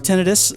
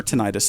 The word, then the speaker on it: tinnitus: are two types of tinnitus or tinnitus if you're some kind that are worth knowing